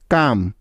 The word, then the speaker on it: calm: Next, M এর আগে এল সাইলেন্টের কিছু উদাহরণ, যেমন কাম, CALM, কাম, পাম, PALM, পাম, বাম, BALM, বাম। এখানকার প্রতিটি শব্দেও এল এর পরে এম আছে, তাই এখানে এলটি সাইলেন্ট রয়েছে।